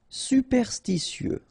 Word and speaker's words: superstitieux: Superstitieux, okay, so final X not pronounced. Superstitieux, okay, remember when we get this T after E and then E here, S. Superstitieux, superstitieux.